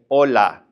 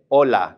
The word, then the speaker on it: hola: we would simply say hola. We don't pronounce the H whatsoever. So, we just simply say hola.